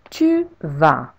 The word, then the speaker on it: tu vas: Tu vas. You go. With a silent S at the end.